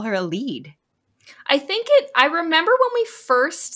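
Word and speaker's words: Elide: Because so we've been calling her a Lide, but then I was listening to the audiobook and they call her a lead.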